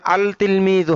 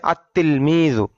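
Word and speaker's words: التلميذ: যেমন তিলমিজুন এখানে আল তিলমিজু হবে না হবে আত্ত তিলমিজু। লাম টা লেখায় আসবে উচ্চারণে আসবে না।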